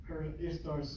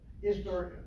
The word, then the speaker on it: Ishtar: Ishtar, which is pronounced Easter. Right.